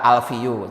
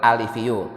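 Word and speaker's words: أَلِفِيُّ: orang sering salah baca pertama alifiu dibaca alfiu itu salah yang benar alifiu yang kedua walma shau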